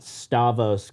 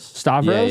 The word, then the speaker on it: Stavros: You got Stavos on your seventh episode. Stavros. Stavros. I already knew how to say it.